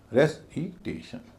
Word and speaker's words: recitation: से बना है, RECITATION, इसमें वही नियम लगेगा। TION से पहले जो ए है उसका उच्चारण भारी होगा, ए। उससे पहले जो आई है उसका उच्चारण हल्का होगा, छोटी। और उससे पहले जो REC है उसका उच्चारण फिर भारी हो जाएगा, रेसिटेशन, रेसिटेशन।